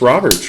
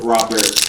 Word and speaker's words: Robert: Stephen Colbert, Robert. He's French. It's okay to be wrong, Gary. The T is silent. Robert.